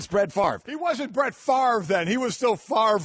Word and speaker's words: Favre: oh yeah I mean you can have a word that is spelled F AV re and pronounce it Favre it still doesn't make sense that's Ben Stiller exactly